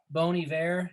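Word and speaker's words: Bon Iver: machine uh big red machine i know uh bony bear is i really hope i'm pronouncing that correctly oh you got it yeah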